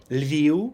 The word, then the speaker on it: Lviv: Just make sure there's no f at the end, but just a short u. The same with Kharkiv, Lviv. It's the same thing. It's the final v becomes a bit short, non-syllable forming u.